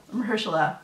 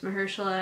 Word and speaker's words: Mahershala: Mahershala, yeah. Mahershala. I think that's how you pronounce it.